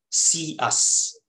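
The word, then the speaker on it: CEUS: qualities and i have given the acronym see us for these four um ideas and it is spelled as c e u s c stands for curiosity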